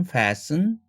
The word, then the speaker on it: fasten: 밑에 더 밑으로 내려오면 hasten, fasten 이런 단어들도 hasten, fasten 하지 않고 트를 날리는 거.